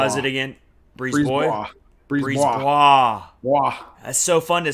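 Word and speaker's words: BriseBois: Breeze Bois. That's so fun to say when you get the pronunciation down.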